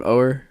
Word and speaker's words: Oher: Oher?